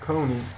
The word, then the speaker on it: Kony: And uh his name is Joseph Con. Um I think that's how you pronounce it. Coney. It's K O N Y. Uh it's kind of spelled like Sony.